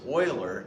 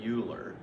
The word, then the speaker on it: Euler: this is euler circuits and paths it is pronounced euler not euler okay so anyway in the 17th century problem